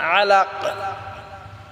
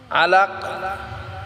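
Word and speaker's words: عَلَق: আলিফ টেনে পড়বো মিন আলাক আলাক কাফটাকে আমরা কলকলা করে সাকিন করবো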